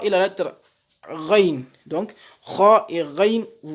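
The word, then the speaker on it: غ: Donc, il faut faire attention à les prononcer avec la gorge pour avoir la bonne prononciation. Donc, la lettre kha et la lettre ghain.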